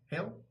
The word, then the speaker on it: Hela: who's the queen, ruler of Hell. Is it pronounced Heel? Hyle? It's hell. It's still pronounced hell. Heel? H-E-L hell. Heel.